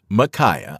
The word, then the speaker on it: Mikiah: number four micaa m i k i ah micaa this name is pronounced micaah according to the that